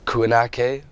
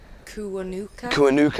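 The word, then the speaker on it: Kiwanuka: And yeah, and the Emily Sande, and I always pronounce his name wrong, Michael Kuanake. Is it how do you pronounce it? Kuanuka, I think.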